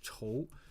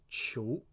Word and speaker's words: 仇: All right, so this is 仇 when you pronounce it 仇, this means hatred or resentment. The next one, that next pronunciation is 求. Now when you pronounce it 求, that means spouse or companion.